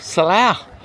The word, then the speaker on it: Salah: So yeah, that is a pronounced correct salah under English people is saloo in it.